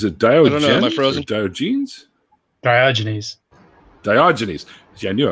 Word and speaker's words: Diogenes: um but is it diode my frozen genes diogenes diogenes see i knew i was mispronouncing it yeah mind you i have had